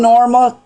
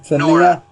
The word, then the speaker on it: Nora: And friend Norma, how you pronounce it? Nora. It's Nora. Yeah.